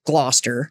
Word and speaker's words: Gloucester: is a place called gloucester gloucester which is actually spelled g-l-o-u-c-e-s-t-e-r didn't need to know that you just don't pronounce everything in the middle you know what well